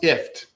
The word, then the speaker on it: IFTTT: how do you pronounce ift well like that if we we like to say it's like gift without the g um but if it's